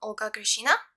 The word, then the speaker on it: Olga Grishina: going to make the lamb jumper jumper from olgashina yes that's how you pronounce it so it's the same design as